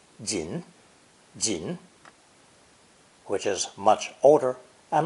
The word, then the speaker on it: 人: of fujian and taiwan the formal pronunciation of person or human is jin jin which is much older